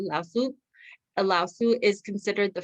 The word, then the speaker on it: Lao Tzu: Lao Tzu, that's how you say it.